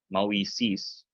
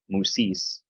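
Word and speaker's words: Μωϋσῆς: And that guy, moisis, so that you don't make a soup sounding diphthong, so you don't go musis.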